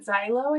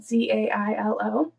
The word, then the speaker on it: Zailo: So at one of these events in 2005, Lindsay met Jason Zilo, I think is how you say it, Zailo.